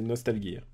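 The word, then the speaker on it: Nostalghia: Je te l'ai prononcé à la russe, c'est Nostalgia.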